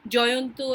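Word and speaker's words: Jayanta: Satyajit Ray story, so if I use my Bengali pronunciation, it is Jayanto and Shankar, and for others is Jayant and Shankar.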